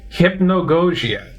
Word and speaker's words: Hypnagogia: Hypnagogia. Oh my god, it's a hard thing to say. Hypnagogia. That's how you pronounce that. Hypnagogia.